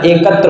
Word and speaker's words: एकता: कोई शब्द नहीं होता एकत्र होता है क्या होता है एकत्र एकता अब एकता आप आराम से धीरे से बोले एकता तो छोटी ए का उच्चारण होगा ठीक है एकता आगे